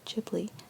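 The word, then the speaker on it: Ghibli: things which is Studio jibli sorry jibli is how you pronounce it uh so Studio jibli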